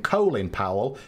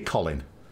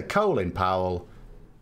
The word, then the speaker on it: Colin Powell: Powell, you know, I will happily call him Colin Powell because I know that's how he pronounces his name. But in this country, it'd be Colin, you know, because that's how we pronounce Colin.